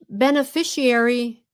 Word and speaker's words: beneficiary: beneficiary.